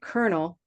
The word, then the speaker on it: colonel: There's another word that sounds like colonel with a different spelling, Mhm.